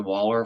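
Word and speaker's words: Valler: my Waller that's the Waller Farm in Norway and it's spelled with a V but it's pronounced with a w uh you can save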